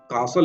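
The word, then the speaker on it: castle: और इंग्लिश में making कासल इन द एयर कासल का मतलब होता है महल ठीक है इसमें जो टी है वो साइलेंट है ठीक है ताश का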